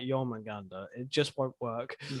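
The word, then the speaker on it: Jörmungandr: My father told me of, how the fuck do you pronounce his name again? Jormungandr. Jormungandr.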